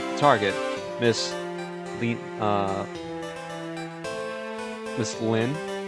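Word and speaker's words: Lynne: I've already seen it seen to it that target Miss Le uh Miss Lynn. I guess I'm assuming the the E at the end, you know, pronounces silent.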